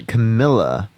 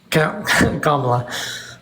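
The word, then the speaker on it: Kamala: not and he called her he called her Camila kamla I can say her name kamla it's weird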